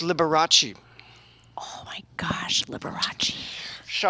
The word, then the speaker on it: Liberace: a little reference point always used to talk about lee bryce which is a pronunciation that i think she learned from her mother for a performer the rest of us know as liberace oh my gosh liberace